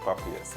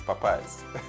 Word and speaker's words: Popeyes: interpreted the word but he pronounced it the way it looked and said by saying populist and then I had the correct if it's not puppy yes it's Popeyes you know one of